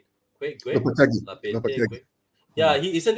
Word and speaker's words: Lopetegui: There's a lot of talk of Sevilla could be about to get rid of Lapeteque. Is that how you say it? Gue? Lopetegui.